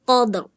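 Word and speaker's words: قدر: Inna anzalnahu fi lailatul qadr. Tebelin, qadr, jangan qadr. Qadr. Ya, tebelin ro-nya ya.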